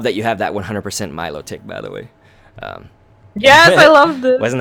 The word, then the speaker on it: Milotic: Milotic or something or some people say melodic I don't say it like that I say Milotic yeah I think Milotic is how I say it but essentially that's